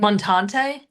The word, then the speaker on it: Montante: And Stephen, what is this? Montante. Montante? Yes, Stephen Montante.